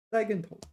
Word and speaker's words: 栽跟头: I should pronounce it the neutral tone. 栽跟头. 栽跟头.